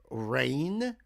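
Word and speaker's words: Raign: Name of the band or artist is Rain, but it's spelled R AI GN.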